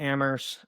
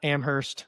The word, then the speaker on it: Amherst: Then transitioning to Ammerst, um, which it they they they'd make me get on you. The the H is silent. Ammerst, not Amherst.